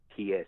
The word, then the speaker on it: Maruta: It's Maruta, so it's like Murata, but with the U and the A swatched around.